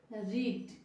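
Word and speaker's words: read: আমি পড়েছিলাম তাহলে আই রিড তুমি পড়েছিলে ইউ রেড উচ্চারণটা আলাদা হবে আমরা পড়েছিলাম উই রেড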